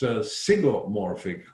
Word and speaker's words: zygomorphic: the animal kingdom, against zygomorphic corolla or zygomorphic corollas, are pronounced both ways, with a Z and a Y.